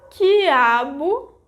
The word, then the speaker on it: quiabo: Did you know that in those cases I didn't pronounce the vogal U? So, that's the rule. In general, when there is a syllable formed by gi, ge, ki, ke, the vogal U disappears phonetically.